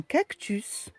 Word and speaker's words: cactus: dans des cas particuliers nous avons le s qui se prononce à la fin comme un fils un sens un cactus un consensus aux pays bas